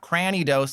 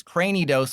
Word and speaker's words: Cranidos: And again, I've said this before, that is how you pronounce it, because it's like cranium. It's not Cranidos like a granny. It's Cranidos like a cranium.